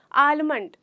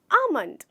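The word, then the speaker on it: almond: मैंने सुना मेरे एक स्टूडेंट ने बोला आलमंड जो बहुत गलत है इसका एक्चुअल प्रोनंसिएशन है आमंड आमंड जिसमें हमारा लेटर एल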